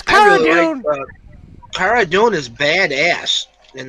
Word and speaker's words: Cara Dune: Well, what had happened is, it's supposed to be Cara Dune, but it got mispronounced, kind of like the Tantive 4. People call it Tantive V for no reason whatsoever. Just because it was mispronounced one time in a radio drama, everyone pronounces it the wrong way now.